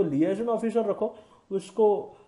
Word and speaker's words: liaison: तो लिएजन ऑफिसर रखो उसको, लिएजॉन इज the actual pronunciation basically.